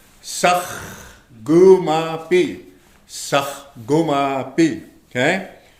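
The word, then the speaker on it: saahkomapi: S-A-A-H. You say sakh. Right here. Sakh. Gu. K-O is gu. Ma. Okay? And then the M-A is ma. The P-I is B. So if you spell it out, it'll look just like this. Of course, sakh. Remember the Garot song? Sakh. Gu. Ma. B. Now say it. Sakh. Gu ma pi.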